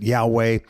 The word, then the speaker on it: Yahweh: The Old Testament, he revealed his name, and we pronounce it Yahweh.